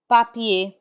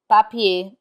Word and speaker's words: papier: We do not pronounce the r in i e r. Instead it has the a sound. Papier. Papier which means paper.